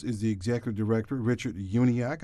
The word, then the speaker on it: Uniacke: the Executive Director, Richard Uniacke. I said his name correctly because I asked for it this time to make sure that it's actually 3 syllables instead of 4 as I was making it.